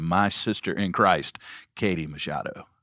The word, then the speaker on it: Machado: You did, Machado. That's what I thought, yeah. For a long time, I said, I think I called you Macchiato, and you were so,